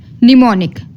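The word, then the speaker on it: mnemonic: नहीं होगा ठीक है नेक्स्ट है एम निमोनिक अब निमोनिक में हमने एम को साइलेंट कर दिया निमोनिक में किसको साइलेंट किया एम को तो एम लिखने में आएगा बोलने में नहीं आएगा एन में क्या है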